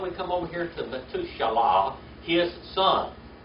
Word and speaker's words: Methuselah: And now we come over here to Metushalah, his son. Metushalah. Or Methuselah.